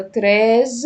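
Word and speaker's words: treize: وكتابه رقم 16 طب تعالوا كده نعيد على النطق بتاعهم احنا قلنا 11 اونز 12 دوز دوز دوز 13 تراز 13 تراز 13 تراز 16 ساز يبقىز دوسراز ساز كده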